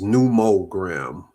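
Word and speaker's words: numogram: Or is it It is Yeah, the n u m o g r a m is numerogram.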